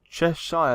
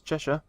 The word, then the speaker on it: Cheshire: Cheshire, that's not how you say it, it's Cheshire.